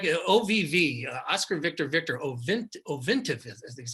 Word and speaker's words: Ovintiv: The other one I like, OVV, Oscar Victor Ovintiv, is how I pronounce it.